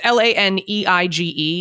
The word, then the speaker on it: Laneige: It's Laneige. If it was French, it's Laneige, but I'm not sure how people, say it here. I've always seen it and I never knew how to say it, but I know the brand. Most likely I've used it and I like it. Americans probably say Laneige, I guess.